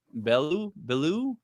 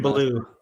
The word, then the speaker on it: Belew: The synthesizer solo in that song is played by Adrian Belew. I don't know how you pronounce Adrian it. Belew.